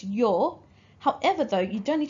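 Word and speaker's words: 様: Now the other pronunciation, which is in blue, says that this kanji is pronounced as yo.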